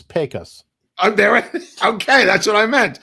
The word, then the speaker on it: Pecos: Oh, somebody said it's Pecos. Okay, that's what I meant. I was asking. I didn't know. It's like it's like a pay cut. Pecos.